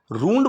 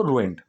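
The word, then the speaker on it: ruined: ठीक है, रूइंड, pronunciation रूंड बोल देते हैं, चलता है, कई जगह लोग रूंड भी बोल देते हैं, लेकिन थोड़ी ई की आवाज़ रखो, रूइंड।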